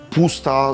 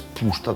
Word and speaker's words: puszta: Pusta zwana u nas niesłusznie Puszczą, bo SZ po węgiersku się jak S wymawia. Więc nie jest Fidesz, tylko Fides. Nie jest puszta, tylko pusta.